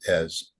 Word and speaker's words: Ezz: So, the question we're asking, and by we, I mean the members of EZ, okay, that's easy. It's pronounced Ez.